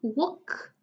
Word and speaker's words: walk: Well, then with L, we have walk, half calm.